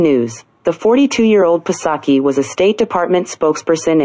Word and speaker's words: Psaki: they call a snippet, they said Psaki, P-S-O-C-K-E, and then they're saying pronounced S-O-C-K-E.